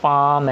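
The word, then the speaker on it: palm: इसी तरह पाम है, इसमें भी एल साइलेंट है तो इसमें भी हैवी डॉट यहाँ पे लग जाएगा।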